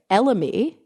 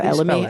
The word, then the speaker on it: elemi: As in elm? No, as in elemi.